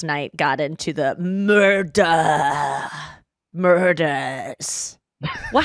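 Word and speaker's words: Murdaugh: I just last night got into the murder murders well how do you say the name Murdoch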